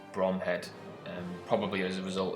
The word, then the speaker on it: Bromhead: the command of lieutenant gumville brumhead although in 99 cases this is pronounced bromhead and probably as a